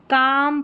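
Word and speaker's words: calm: काम, पाम, Simon, और यह बाम, ये है आमंड, क्या है आमंड।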